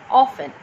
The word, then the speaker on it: often: Here are some words with the silent letter T. Now, in every of these words, the letter T is silent, like castle, depot, listen, often. In each of the words, I have not pronounced T as it is silent.